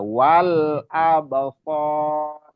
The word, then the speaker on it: والأبصار: Jadi jangan sampai wal absar itu nggak perlu ditahan ya, disempurnakan aja. Lam itu sama dengan mim, sama dengan nun, sama dengan ain, bainiyah, sifatnya bainiyah. Jadi paling yang harus dapat disempurnakan pelafalannya aja wal absar. Jadi jangan sampai ditahan.